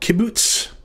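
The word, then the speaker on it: qibbuts: or long u-class vowel called kibbutz it's pronounced like the u in the word ruler when it is short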